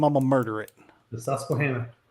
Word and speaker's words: Susquehanna: Because if I try to pronounce its real name, I'm gonna murder it. The Susquehanna. Susquehanna.